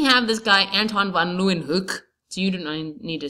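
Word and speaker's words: Hooke: his name is Robert Hook okay who knows why He's that e at the end but he pronounce it hook he came up with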